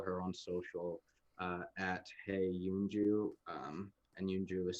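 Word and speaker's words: Eunjoo: you can follow her on social at hey yunju and yunju is spelled e-u-n-j-o-o uh yeah and if you want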